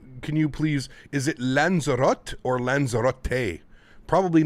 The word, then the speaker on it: Lanzarote: you say it okay so it is tay um you pronounce the last e got you okay it's like rotate but lanzarate see that's how we learn chat lanzarote there you go we